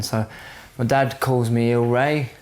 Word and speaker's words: Il Ray: the problem is in in Italian it's I think it's IL which wouldn't you wouldn't pronounce it as ill Ray so I thought it'd be funny to to spell it as ill Ray like you know ill